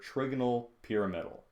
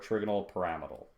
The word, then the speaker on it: trigonal pyramidal: we call this structure trigonal pyramidal or trigonal pyramidal it's heard it pronounced both ways okay and so really